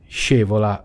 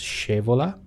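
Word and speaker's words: Scaevola: Shevola. Okay, I think it's pronounced Shevola. Okay, from the historical Roman hero Muzio Scevola. From my very, very basic knowledge of Latin, CAE should be a soft ch sound, so either it could be Scevola or Scevola.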